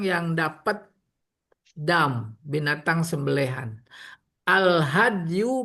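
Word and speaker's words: الهدي: Al hadyu bil fathi fasukun, ya betul bacanya al hadyu, huwa mayuhda ilal Ka'bah,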